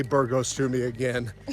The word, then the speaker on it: Burgos: How do you pronounce it? Burgos.